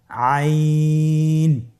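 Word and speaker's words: عين: আইন হরফটি উচ্চারণের সময় অবশ্যই তিন আলিফ টেনে পড়তে হবে। এখন আইন হরফটি বারিক হরফ। পাতলা করে পড়তে হবে। আপনার আমার সাথে বলুন আইন।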